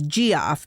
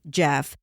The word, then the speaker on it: Geoff: Last week I referred to one of the suspects as Geoff because his name was spelled Geoff. But guess what? Silly me, it's actually pronounced Jeff.